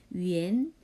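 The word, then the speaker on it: 元: 얘기하는 데 씨는 바른말 땐 위한 라고 하지 않고 위엔 위엔 이 라고 발음해야 그 다음에 말할 때는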